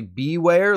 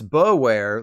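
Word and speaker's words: Bewear: hate with beware except it's not actually beware like beware the bear it's bow wear like beauware the bear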